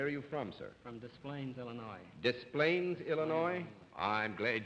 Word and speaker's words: Des Plaines: Hume where are you from sir from Des Plaines Illinois DesPlaines Illinois I'm glad you're here now I know how to pronounce that name and not get my skull